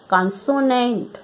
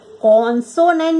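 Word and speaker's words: consonant: और इसका दूसरा पार्ट है कॉन्सोनेंट। कॉन्सोनेंट नहीं, कॉन्सोनेंट। आ की आवाज़ आएगी, ओ की नहीं।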